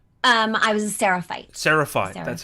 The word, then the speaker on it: Seraphite: So you were is it Sephirite? Is that how you say it? I was a Seraphite.